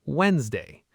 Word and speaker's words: Wednesday: A lot of people pronounce every letter and say wedd, but the correct pronunciation is Wednesday. The D in the middle is silent.